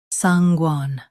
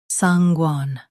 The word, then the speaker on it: sanguine: Sanguan stress sang then glide into guen. Keep it smooth.